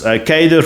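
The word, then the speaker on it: cadre: Um, cater deployment is catered.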